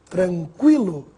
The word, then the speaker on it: tranquilo: Agora, tranquilo, equino, iniquidade. Vamos ver a diferença da pronúncia do G mudo para o gue pronunciado.